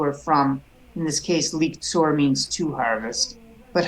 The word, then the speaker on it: לקצור: Let's stop there with liktzor. oh yes That would be a stop sign shva, so we'd close a syllable liktzor.